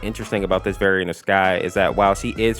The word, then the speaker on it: XKY: And while Boyfriend is rapping against Rayna, we actually see Sky in the background, but this version of Sky's name is spelled XKY.